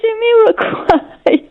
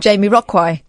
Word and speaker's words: Jamiroquai: How do you say Jamiroquai? Well, like you just said it then, and not Jamie Rockwai.